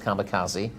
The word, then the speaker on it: Kamikaze: Was third behind a horse spelt Kamikaze, but pronounced Kamikaze, as confirmed by the owners, over this course and distance in February.